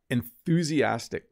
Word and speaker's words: enthusiastic: It looks hard to pronounce. Let me say it a few more times. Enthusiastic. That TH can kind of trip you up a little bit.